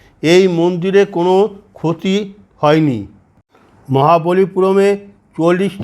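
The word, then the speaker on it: Mahabalipuram: স্থানের তালিকাভুক্ত করা হয়েছে এই স্থানকে বলা হয় মহাবলীপুরম স্থানীয় উচ্চারণ হিসেবে মামাল্লাপুরম হিসেবে বলা হয় দক্ষিণ ভারতের তামিলনাড়ু রাজ্যে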